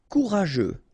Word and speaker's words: courageux: Courageux, final X not pronounced. G-E-U together, they will give you this je, okay?